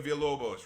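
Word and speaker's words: Villalobos: Ino Inio Vilobos. Remember, double L's are pronounced with Y.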